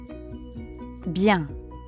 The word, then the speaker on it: bien: going well that's right you might have noticed that bian also has a nasal sound ah so give it a try and repeat after me bien sababien now